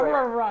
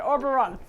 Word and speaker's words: Orberon: So anyway, Oberon.